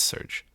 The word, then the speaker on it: Serge: Is it going to pronounce it? I did, yeah. Okay. It's Serge.